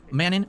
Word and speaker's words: Manon: Is it like Ganon or not? Is it yes, it's like Ganon, or no, it's not like Ganon? Well, just say it how I say it. Manon. How do you say the name? It's not like Ganon. It's Manon. Gotcha.